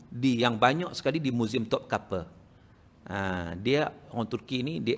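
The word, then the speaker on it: Topkapı: Jadi maknanya museum itu yang di Turki itu, museum dia ejaan dia Topkapi, tapi bacaan dia Topkapi. Sebab I itu tak ada titik.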